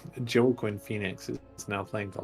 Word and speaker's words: Joaquin: Jacqueline Phoenix. There we go. Joaquin Phoenix.